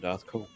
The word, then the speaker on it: DarthCaul: It's spelled like Darth Maul from Star Wars, but with a C instead of an M. C-A-U-L, DarthCaul.